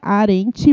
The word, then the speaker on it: Arendt: o perfil da que arent mas se escreve arendt que é a r